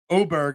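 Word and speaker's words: Åberg: Oberg, I had no idea that Oberg's name was Oberg and not Aberg, but that's a different story.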